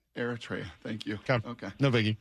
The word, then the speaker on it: Eritrea: Well, there's an African country just north of Ethiopia, and it's spelled Eritrea. Yeah, Eritrea. Yeah. How would you say that? Eritrea. Eritrea.